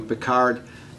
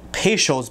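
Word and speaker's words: Peychaud's: going to add is some picard bitters picard bitters so i have a bottle of pesho's bidders which that's what it looks like it's spelled p-e-y-c-h-a-u-d-s how did he get picard out of that spelling to chill this down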